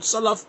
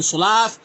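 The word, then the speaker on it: سلف: Arabic alphabet correctly, and you keep on saying the word salaf being sulaaf, and it means khamar, alcohol, wine, man, you're not to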